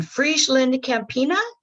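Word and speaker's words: FrieslandCampina: And in his professional career, he was in marketing, sales, and business development, and was, in Friesland Campina. Is that how that's pronounced?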